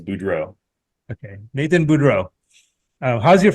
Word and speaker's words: Budrow: You know, I hear it pronounced so many different ways, but the way that my dad pronounced it was Budrow.